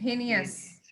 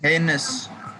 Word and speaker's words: heinous: ah it is not somebody was about to give me hines isn't it heinous somebody was going to